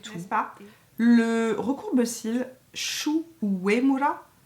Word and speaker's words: Shu Uemura: Le recourbe-cils Shu Uemura, Vous avez vu comment je le prononce bien à la japonaise?